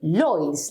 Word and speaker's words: Lloyds: in the surname Lloyds, we say Lloyds, like an L, so it sounds exactly the same if I have one or two L, but in Spanish it's